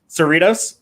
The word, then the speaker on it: Cerritos: on the I gotta remember how to say it it's cerritos Cerritos yeah burritos are like everything says it wrong